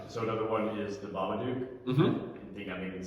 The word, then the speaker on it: Babadook: so another one is The Babadook.